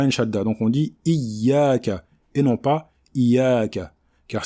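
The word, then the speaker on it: إِيَّاكَ: Tout d'abord, nous avons ici, sur la lettre Ya, des deux mots Iyyaka, une shadda.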